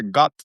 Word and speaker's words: khat: cotton that they have," which is pronounced Khat. Some people say gut, some people khat, but they were like, suddenly he said they jumped up and they were like, "Yes, let's go."